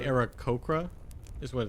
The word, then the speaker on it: Aarakocra: I was looking at the phonetics. There is not an H.